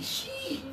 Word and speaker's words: sheep: For this one, your teeth are high in your mouth. Eee, sheep. Okay? You got it, Chari. Okay, and Yuliya, your turn. Sheep. Sheep. Easy, right? Yeah. It's very natural in Russian or in Turkish or in Japanese or in French to do the E sound, the high tongue. Very normal. And there's not much air.